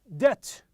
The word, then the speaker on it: debt: Debt. The B is silent.